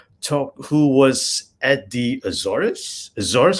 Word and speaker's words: Azores: who was at the azores zorus how do you pronounce that as it's like if you sneeze but it's easier okay